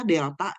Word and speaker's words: Delta: makro itu akan menggunakan tanda ini dia bacanya Delta ini nah Delta ya bacanya dalam ekonomi makro kalau